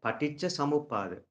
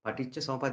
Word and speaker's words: Paticca Samuppada: How do you pronounce it? Is it Yeah. Pratika Samupada? Yeah, Paticca Samuppada. Paticca Samuppada. This actually this the one thing we need to understand. So Pali and the Sinhala are very common. So people who can speak Sinhala, they can pronounce everything perfectly.